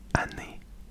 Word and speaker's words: année: That's spelled S-E-M-A-I-N-E. And then for the year, you would say année.